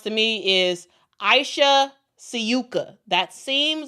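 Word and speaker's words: Sivka: seems like it's pronounced to me is Aisha Syuka. That seems like the pronunciation. But a lot of people a lot of people are saying um Aisha Cifa because it looks like CIFA.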